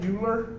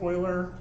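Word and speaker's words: Euler: filter e l r um it looks like uler apparently it's pronounced Oiler um watch what happens to my curves when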